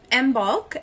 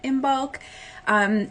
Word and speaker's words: Imbolc: But my favorite way to remember is im and then bulk.